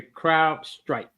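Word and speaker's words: CrowdStrike: I said it wrong. It's actually crowd strike. Crowd. Yeah. Okay. Crowd. CROWD, like a crowd strike.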